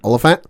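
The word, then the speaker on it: Olyphant: and only Timothy how do you say this olant olant yes so that was and I didn't remember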